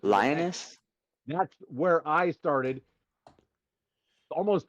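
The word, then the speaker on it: Linus: His name's Lionus and he made this thing. I'm going to call Linux because it ends in Lionus, but it's Lionus.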